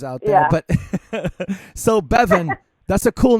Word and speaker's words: Bevin: Bevin.